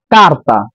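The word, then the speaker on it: carta: থাকে বাকি সকল ক্ষেত্রে আপনার চের উচ্চারণ কর্মত উচ্চারণ হবে যেরকম কারতা কারতা পেপার কানে কানে কুকুর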